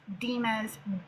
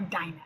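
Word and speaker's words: Dinah: The biblical text never says she is Dena's child. I know some of you call her Dina, okay? But the correct p pronunciation is dena.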